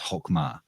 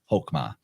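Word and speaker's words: Chokmah: through the sphere of chokma or actually more appropriately pronounced hokma hokma and uh that's spelled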